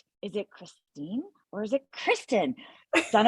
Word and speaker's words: Kristine: you so much yes it is Christine Christine and it's funny that you were saying it wrong so long because as I told you when we discovered this I had never heard you say my name until that first day so we had known each other for a year or two and I hadn't even known you were thinking of me with Kristen instead of Christine but